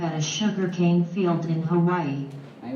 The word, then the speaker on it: Hawaii: The models arrive at a sugarcane field in Hawaii. Đấy, và đừng quên là phát âm của Hawaii bao giờ phải là gì? Hawaii, right? The last syllable.